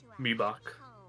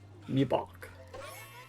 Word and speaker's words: Mibach: Me buck is the correct pronunciation. Me buck.